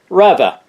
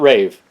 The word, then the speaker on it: Rave: the BRP product videos, they do pronounce rave as Rava. My buddy Par from Skoda magazine in Sweden had a great chat with me on the phone about that pronunciation. That's right, Rava, not rave.